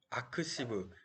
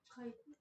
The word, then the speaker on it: arXiv: 아크시브 뭐라고 읽을 것 같나요? 아카이브 어떻게 알았죠? 그냥 원래 많이 아셨죠? 쓰지 않아요? 아 그런가요? 네, 저도 처음에 아크시브인가 뭐 그런 건 줄 알았는데 이거 그냥 아카이브라고 읽는 건데 이게 어떤 사이트냐면은 코넬